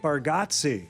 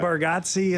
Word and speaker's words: Bargatze: said it yes I it's spelled with the g a t e z e and we spell like we say it like there's an e right in there so uh I completely